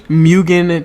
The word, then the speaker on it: Mugen: Mugen Train.